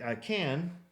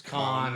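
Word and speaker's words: Cannes: Well, they went to to Can that same year, you know, right after Cans, right after I am pronouncing it correctly, right? It's can, but people will tell you it's con and so they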